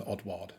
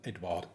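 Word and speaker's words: Ødegaard: oddson Edward I can't want to call him Edson odard but it's not it's oddson Edward I'll say that purely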